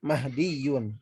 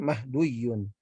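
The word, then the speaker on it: مَهْدِيٌّ: dengan yang Alya i itu nanti dibacanya mahdiyun bukan mahduyun Oke jadi untuk yang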